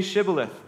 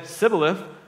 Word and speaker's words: shibboleth: no they told him please say shibboleth if he said sybilif because he could not pronounce it correctly They seized him and